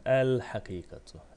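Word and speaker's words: الحقيقة: Hakikatun el hakikatu. El hakikatu. El ha. Gerisi aynı zaten. Önemli olan el ha. El ha. Lam okunur. Peşine gelen harf ise şeddetsiz okunur.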